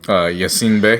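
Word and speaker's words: Yasiin Bey: Yassine Bey.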